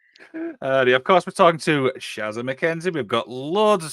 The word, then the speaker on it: Shazza: They put an R in there, Sharzer, whereas it's Shazza, just Shazza.